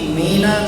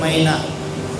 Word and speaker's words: मीना: आपकी अब हम लोग पहले कई बार उच्चारण करते हैं मैना मैना शब्द नहीं है मीना एक ही मात्रा है कई की मात्रा नहीं कह रही जो मीना नाम की